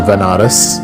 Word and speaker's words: Banaras: So I ended up going to Banaras, which is a place in India, sometimes pronounced as Vanaras, which is a place